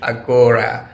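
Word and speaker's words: ἀγορά: از ایده حمله به آگورا یا به تلفظ لاتین باستانی آتنی خودش اگورا دفاع می‌کنم و اون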